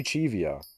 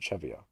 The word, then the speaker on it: Chevio: I feel like Chivio implies two E's. That's probably why I misspell his name all the time, is because I say Chivio, when realistically I should pronounce it Chevio, because it's only one E.